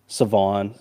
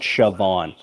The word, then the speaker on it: Siobhan: I I love Siobhan Revel. Not going to back down from that one. Uh, you know, the H is silent. Savon, Savon or something like that.